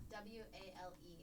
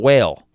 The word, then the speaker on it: Wale: W-A-L-E. Okay. That's not whale. No, It's Wale.